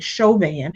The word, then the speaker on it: Chauvin: Derek Chauvin is on trial, and I'm going to call him Derek Chauvin because I am convinced that he is probably related to people from Louisiana, and that's how we pronounce that specific last name.